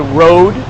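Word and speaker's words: Rode: city noise right now it is called a road ro de is how it's spelled road love Mike sounds phenomenally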